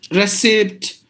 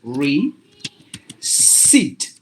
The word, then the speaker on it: receipt: as some of us it should be like this re seat receipt this is short this is long sound receipt that's the way we have to pronounce this word and the next word